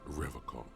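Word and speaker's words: Revachol: He pronounces Revocall with a hard K, unlike other people. You said Revocall? I like to pronounce it the hard way. The old way. The Vespertine way.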